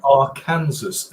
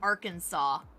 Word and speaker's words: Arkansas: Arkansas and Tucson. Why not say it like Kansas is right? Yeah, because it literally has the word in it, and yet somehow it's Arkansas.